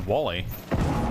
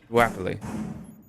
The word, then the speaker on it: Wapley: That was Wally. Well, I think we were doing Wally, and then we were corrected. Oh. Wapley.